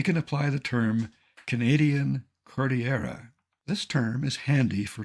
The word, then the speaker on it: Cordillera: Cordillera is Spanish, and beautifully so. Cordillera. Having taken a course in Spanish, I know how to pronounce Cordillera, and I know what it means, a mountainous region.